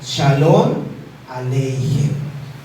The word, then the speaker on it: Shalom Aleichem: En el hebreo ellos lo pronuncian así: Shalom Aleichem.